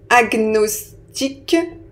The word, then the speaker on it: agnostique: importants de cette catégorie donc on commence avec agnostique agnostique je mets j'écris ici agnostique ensuite on a cognitif cogn cognitif donc là